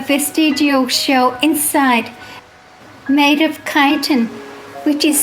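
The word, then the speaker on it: chitin: they have a vestigial shell inside made of kiten which is spelled c h i t i n often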